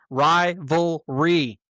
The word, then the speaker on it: rivalry: Rivalry. 3 syllables. It ain't that hard, man.